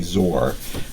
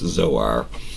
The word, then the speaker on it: Zoar: all I don't know some people say zor I don't know I never pronounce things well when I was a kid but I'm pretty sure it's Zoar and that is kind of